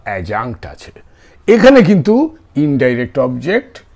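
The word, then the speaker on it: adjunct: প্রনান্সিয়েশন টা সাইলেন্ট হবে এডজাঙ্ক হবে না এটা হবে এজাঙ্ক ওকে সো অ্যাডভার্বিয়াল বা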